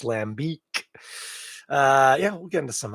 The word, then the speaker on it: lambic: Don't be tempted to call it lambic. You got to lean into that last vowel. It's lambic.